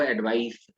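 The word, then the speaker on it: advice: और प्रोनाउंसिएशन में भी थोड़ा सा फर्क है, दिस इज एडवाइज और वो एडवाइस। जब नाउन है तो एडवाइस है, और जब वर्ब है तो एडवाइज है।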